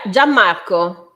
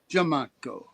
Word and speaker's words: Gianmarco: Now, how do you pronounce his name? Is that an Italian name? Yeah, Gianmarco. Gianmarco.